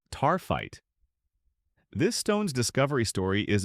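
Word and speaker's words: Taaffeite: Tap pronounced taright.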